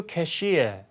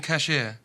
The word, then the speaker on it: cashier: I'll introduce you to a new cashier. I'll introduce you to our new cashier. cashier 이렇게 발음하면 돼요. 이제 북미 영어로 발음할 때 cashier 이음절의 강세가 있기 때문에 우리가 cashier 하는 거라고 좀 발음이 다르죠.